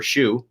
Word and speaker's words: Schuh: youtube channel is shu same as my last name s-c-h-u-h which is just german for shu s-h-o-e so if you forget